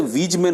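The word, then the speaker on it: Weismann: Generally इसका W से वीजमैन होना चाहिए, पर इसका जो श्रेय है वो किसको दिया जाता है?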